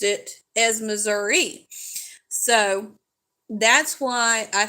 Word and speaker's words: Missouri: it and he goes oh it's Missouri not Miss Sour but anyway so we